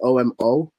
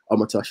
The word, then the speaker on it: Omotosho: Omotosho is O-M-O-T-O-S-H-O. Omotosho. It sounds Japanese at times, but yeah, it's Omotosho.